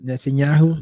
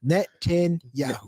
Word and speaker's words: Netanyahu: It's 4 syllables, man. Net Netanyahu. 10 Yahoo. Yeah, think net 10 and then think of the drink Yahoo. Yeah. Net 10 Yahoo.